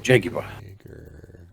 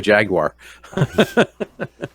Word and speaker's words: Jaguar: As the English say, Jaguar. Come on. So if there's any English guys out there, correct me if I'm wrong, but that's my understanding, is that you guys pronounce it Jaguar. Well, let's see. As opposed to us Americans who say Jaguar.